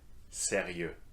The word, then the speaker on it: sérieux: Let's repeat that, sérieux. These follow that pattern. The particularity of these adjectives is that singular forms are pronounced the same way as their corresponding plural forms.